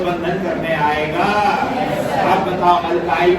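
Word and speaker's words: alkyl: इसी को अल्काइल कहते हैं, अल्काइल। देखो यहाँ उच्चारण पर ध्यान देना, अल्काइल समझा? अल्काइल क्या लैंग्वेज क्लियर हुआ? यानी मिथ आइल, इथ आइल, प्रप आइल, लैंग्वेज क्लियर हुआ?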